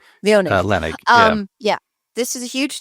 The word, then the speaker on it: Leonnig: Leonnig. Leonnig.